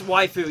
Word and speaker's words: waifu: going to pronounce it wayu now just to just to bug you guys but um but I do know it it's actually pronounced like wife basically with a with a foo on the end it's like yeah but